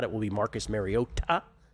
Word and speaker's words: Mariota: If not, it will be Marcus Mariota. That's the pronunciation. Mariota, the Hawaiian pronunciation.